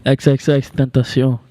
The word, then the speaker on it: XXXTentacion: XXXTentacion.